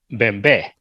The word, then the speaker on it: Bembe: right, and it's pronounced Bembe.